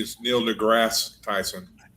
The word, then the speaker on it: deGrasse: I've never heard ever heard it called Degrass. That's true. That's true. No, but Neil deGrasse Tyson, I think, is how it's pronounced with I will say with a high degree of confidence.